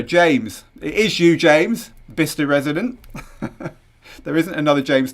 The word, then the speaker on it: Bicester: jeff it really is behind oh apparently it's pronounced bista so there you go we're both wrong the